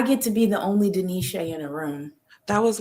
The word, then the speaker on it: De'Neshay: It's Deneshay. And you tell them how to spell it, because look for me. Look for Okay. me. Ask about me. Don't say Shay, it's Denisha.